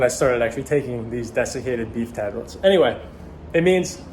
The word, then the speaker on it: desiccated: As I was saying, beef liver tablets, also called desiccated beef liver tablets. I believe I'm pronouncing that right. Hang on. Let's look it up on Google here. Hang on. Desiccated. Bingo. I was saying it right.